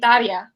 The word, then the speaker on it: Daria: She's like, Daria. Yeah. And then Verity's just like, yeah, Daria. Like, yeah, Diana can say it very good because you say it Daria.